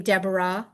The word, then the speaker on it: Deborah: Remember though that at the end of a word, it's usually not pronounced. Yeah. Like hi. Even my name Deborah.